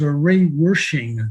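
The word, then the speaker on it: Ray Wersching: and the reason i selected another kicker was array worshiping did i pronounce that correctly yes i believe you did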